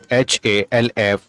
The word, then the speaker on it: half: L is silent. ALMOND, amend. CALM, calm. HALF, half.